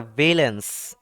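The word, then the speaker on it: valence: নাকি ভি হবে এটার কারেক্ট কি কারেকশনটা কি ব্যালেন্স ব্যালেন্স ভি এল এ এল ই এন সি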